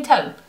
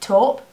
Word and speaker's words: taupe: topping topping taing I how do you pronounce taupe I would say taupe is it top I think it depends on where you live I'm going to say